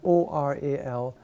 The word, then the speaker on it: aural: word in English because we have o-r-a-l and a-u-r-a-l which are actually pronounced the same there's no but but